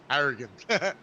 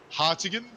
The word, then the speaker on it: Hartigan: You keep calling Jason Hartigan Harrigan. Oh, am I pronouncing it wrong? Sorry. Yeah, I just thought I'd just correct that. How would you? How's the correct way to pronounce it? Hartigan, not Harrigan.